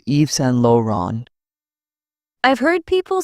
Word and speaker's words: Yves Saint Laurent: People often call Yves Saint Laurent with English sounds. The French pronunciation is Yves Saint Laurent.